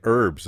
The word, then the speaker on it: herbs: It's fucking herbs. H is silent.